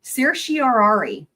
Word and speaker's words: certiorari: Let's see if I can find out how to pronounce this word. I'm usually pretty good at okay, certiorari.